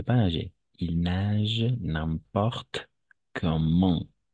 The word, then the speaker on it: comment: Il nage n'importe comment. Cette fois-ci, oui, on va prononcer ENT à la fin.